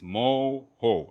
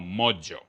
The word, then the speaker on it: mojo: Again, it's mo-ho, not mojo.